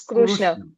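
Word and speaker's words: कृष्ण: thing uh uh Kurrishna if I say Krishna it becomes a slang or it is a right pronunciation in Hindi language in any other language in your local language yes it is right but not in Sanskrut it has to be Krishna that's the reason in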